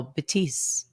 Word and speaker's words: Betis: dudes sitting next to us were talking about Bettis, but they might have just been being funny. Like I was legit. I had no clue how you pronounced it. So yeah, so that was cool. It's Real Betis.